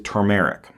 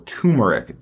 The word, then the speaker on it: turmeric: Jiang Huang, this is turmeric or turmeric, depending on how you say it.